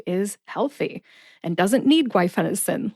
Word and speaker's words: guaifenesin: was a Jedi master the next syllable is Fen like the fender on a car I which is the schw e sound or the short e sound like the e in the middle of the word elephant I and sin like the